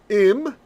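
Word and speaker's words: עם: In Israel today, ayin is not pronounced. Im. So they both are im, right?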